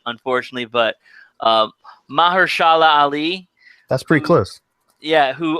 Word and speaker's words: Mahershala Ali: I think in the first segment, I'm going to screw up the pronunciation of his name, unfortunately, but Mahershala Ali.